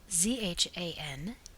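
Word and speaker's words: Gianduja: Washington Square, at the Zanduya. The proper pronunciation of this is as if it were spelled Zhanduya.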